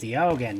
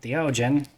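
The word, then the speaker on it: Deogen: It's pronounced Diogen, not Diogen.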